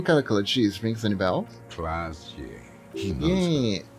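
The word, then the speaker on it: Klaasje: Class, yeah.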